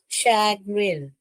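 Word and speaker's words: chagrin: का साउंड करना है कैसे पढ़ोगे बेटा इसको शग्रिन शैगरिन श ग र ए न शगरिन पढ़ने का शैगर का मतलब मतलब क्या है मालूम है?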